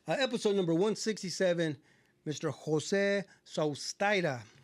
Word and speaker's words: Sustaita: Sustaita. Yeah. And the way it's spelled too, it's Yeah. kind of like Well, how's Yeah, it spelled? S-U-S, so Seuss, Uh-huh. T-A-I, Thai, Uh-huh. T-A. T-A.